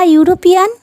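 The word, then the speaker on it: European: कोई वावल का प्रोनाउंसिएशन अगर यू या फिर वाह होता है तब वहाँ पे एन के बदले ए का यूज़ होता है। एग्जाम्पल देखते हैं, आ यूरोपियन, आ यूनिवर्सिटी, आ यूज़फुल बुक, आ यूनियन।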